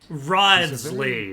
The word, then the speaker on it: Wriothesley: Wriothesley, that's how you say his name.